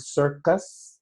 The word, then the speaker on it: circus: If I give you the word circus, there are two C's in that word. But the first one is pronounced as an S, sir, and the second is pronounced as a K, cuss.